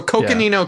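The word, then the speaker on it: Coconino: Uh, Cocoino, Arizona. Yes. Good job. Let's go. Cocoino. So, we'll start with that. It's I'm I'm giving you some grace on these cuz like they're they're tough. So Cookanino County.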